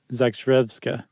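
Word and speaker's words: Zakrzewska: Seuss pronunciation. That's a tough one. I would say Zach Zakreska. Okay. Zakrevska.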